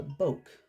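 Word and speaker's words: bokeh: recently about a technique called uh Boke I think that's how it's pronounced because it's not broke there's no r in it and I guess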